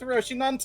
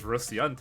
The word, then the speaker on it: Rocinante: me to board with Rocinante. I always thought it was Rociante because that's what I hear when she uses her ego.